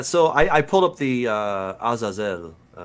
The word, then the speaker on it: Azazel: Yeah, so I pulled up the Azazel. That's how I'd pronounce it. But, Yeah, Azazel. You say potato. You say potato. I'll say that's potato. fine. I'm happy. Potato, man. We say Azazel down here.